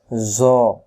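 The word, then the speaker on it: ظ: ত আর নক্তা থাকলে জ আবার বলেন জ ত আর জ অক্ষরের মাখরাজ একই রকম জ অক্ষর কেমন করে পড়তে হয় জ অক্ষর জিহ্বা আগা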